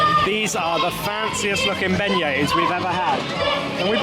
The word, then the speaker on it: beignets: Pronounced beignets.